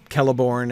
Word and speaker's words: Celeborn: Then he took those out for the hard Cs, which was probably not a good move, considering that like it leads lots of people to mispronounce the names of Celeborn and Celebrimbor and things like that. But anyway, a little clearer when they were Ks to start with.